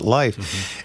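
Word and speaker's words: Lief: And and there used to be a guy in Glendor, his name was Life, L I E F, but he pronounced it life.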